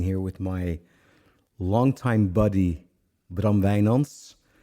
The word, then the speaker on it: Bram Wijnands: I'm sitting here with my longtime buddy Braum Vayons. I pronounce this in the Dutch way.